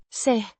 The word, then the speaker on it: se: meaning it or that pronounced say similar to the English say but shorter and with a slight rising intonation.